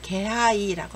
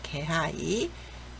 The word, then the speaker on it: 気配: 그런데 여기는 기색이나 낌새를 나타낼 때는 개하이라고 합니다. 요건 조심하세요. 개하이. 네. 기온기의 단어와 예문입니다. 기온, 기온, 기분, 기모찌, 갑자기 기온이 높아졌습니다. 急に気温が高くなりました。 가을이 느껴집니다. 秋の気配がします。 네, 여기서의 개하이는요, 기세, 낌새라는 단어입니다.